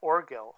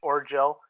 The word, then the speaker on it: Orgill: to say your name oh my name orgill o-r-g-i-l-l or Gill or Gill yeah Lauren Hill okay I didn't know if it was a hard G or not that could go like give like gif some people say or Jill you know and I